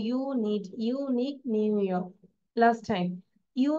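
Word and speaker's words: New York: নো you need ইয়ক নিউইয়র্ক নিউইয়র্ক আর এর উচ্চারণ করে না নিউইয়র্ক নিউইয়র্ক ওকে উচ্চারণটা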